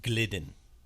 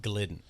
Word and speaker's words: Gildan: i've bought so far like the hanes um gildan um cotton ones where it's like your generic t-shirt like 90s it's pronounced glidden is it glidden yeah are you sure yes